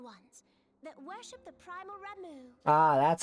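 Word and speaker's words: Ramuh: gizle greens floating ones that worship the Primal ra ah that's how you pronounce his name ramu though technically a beast tribe SS are blessed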